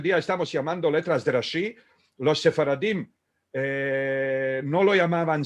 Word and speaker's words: Rashi: Porque las mujeres, al sentir los hombres decir letras de Rashi, decían letras de Rashid o letras de Al-Rashid.